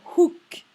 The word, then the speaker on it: hook: Il y a bien le H, ok, on le prononce bien. A hook.